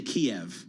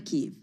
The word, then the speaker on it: Kiev: I also say Kiev, by the way. It's 2 syllables. It is Kiev. Yeah. It's not Kyiv. I don't like that.